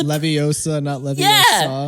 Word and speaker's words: Leviosa: little little uh Hermione is like Ron you're pronouncing it wrong it's Leviosa but you don't even have to pronounce you